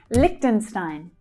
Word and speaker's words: Liechtenstein: Liechtenstein. Liechtenstein. Lich is the strongest syllable. Liechtenstein. Stein. That's the I as in by vowel sound. Liechtenstein.